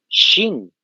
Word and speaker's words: Qin: que va a ser Qin, como están observando ustedes. Nosotros en castellano pronunciamos Qin porque hay una Q ahí, pero en realidad su pronunciación, como están observando ahí entre corchetes, es Shin.